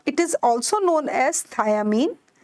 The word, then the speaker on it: thiamine: also known as thiamine and don't confuse it with thymine thiamine is B1 whereas thymine just right thymine is the base of DNA so the spelling is different it is thiamine and pronunciation is also different now coming over to